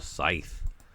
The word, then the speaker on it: scythe: boundless book uh Helena Scythe Sai what is how do you how do you say I say scythe yeah you say thy too you pronounce the th yep uh number one